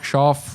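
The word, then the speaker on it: Shough: Shoff. Schloff. Shock. Shock. Shock is how it's pronounced.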